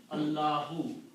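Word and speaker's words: الله: And this word is pronounced as Allahu.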